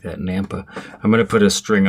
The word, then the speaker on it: Nampa: You gotta say it like that, Nampa.